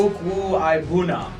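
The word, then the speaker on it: Okwuegbunam: His last name is pronounced Okwuibunam. Haha, Brady. Okwuibunam. Look at that. I got to it before Brady did for once. You scooped me. Okwuibunam.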